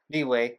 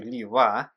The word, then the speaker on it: Liyue: Tons of us say Liyue the wrong way for over a long period of time, like me, Liyue, and then change to Liyue, trying to say it right.